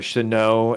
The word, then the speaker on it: Shenault: know, with DJ Chark, Laviska Shenault, or Chenault, as some people are starting to call him. I guess that's the proper pronunciation.